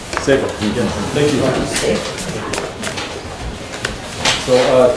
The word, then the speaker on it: Sable: Sable? Sable.